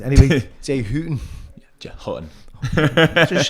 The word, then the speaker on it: Hutton: tattoo fixer himself, Jay Hutton. Is that how I pronounce it? Hutton. Yeah. It's like Buch and Buch. Yeah, it's the Liverpool way of saying it.